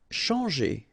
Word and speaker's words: changer: Changer. Okay, when you combine this C and H, you get the sound sh. And after that, you've got your nasal en, chan, and then g.